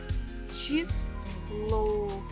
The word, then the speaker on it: число: And numbers we pronounce as ch, I, chi, s, lo, число, число, число.